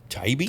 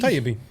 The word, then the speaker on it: Taibbe: Ohio Department of Transportation and Maria Masten and Sarah Ty Tybe Taibbe Taibbe.